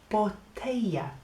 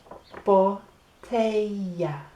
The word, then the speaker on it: botella: En español, if you get a double L, that makes a y sound. So the word for bottle, if we got on here, look, is botella.